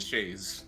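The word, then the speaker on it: chaise: kind of sit on this, how do you pronounce it? Is it chass lounge chair? I believe Shayes.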